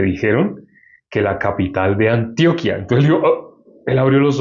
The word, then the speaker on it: Antioquia: Antioquia ya es una palabra eh grave, no aguda, sino grave. Y pues por consiguiente no tiene tilde, pero aquí sí tiene Antioquía, se escribe igual.